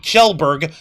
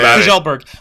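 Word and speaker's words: Kjellberg: so okay uh YouTube star uh Felix PewDiePie kelberg uh he's gonna kick my ass for mispronouncing his last name gelberg uh slammed content creators like Johnny Somali for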